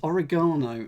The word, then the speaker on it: oregano: e uh uh yes origano uh yes we we we put the emphasis on the on the third syllable um plastic can be